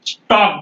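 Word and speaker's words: stalk: यू इसके बाद आने वाले एल को हम साउंड नहीं देंगे यहां पर नहीं बोलेंगे स्टॉक बोलेंगे य भैया बालम नहीं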